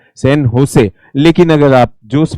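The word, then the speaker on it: San José: कुछ तरीका तो यह है हम बोलते हैं इसको सन जोस लेकिन यहां पर कब्जा किसका था? स्पेनिश लोगों का था। स्पेनिश लोगों का था। तो जब इसका उच्चारण होता है उच्चारण की दृष्टि से इसे क्या कहा जाता है? सन होसे। क्या नाम कहा जाता है? होसे। क्योंकि जो जे शब्द है स्पेनिश भाषा में जे को ये क्या पढ़ते हैं?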